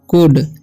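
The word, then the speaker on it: could: and they कुड, एल डी रहेगा साथ में तो एल का उच्चारण होता है साइलेंट, तो ये कुड पढ़ेंगे नॉट स्टे, ए वाई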